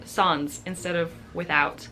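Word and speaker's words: sans: might be going on the next word is song or as we say in English sands or songs in French this means without and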